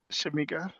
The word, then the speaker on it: Shamieca: Uh, Shamika, did I say it correctly?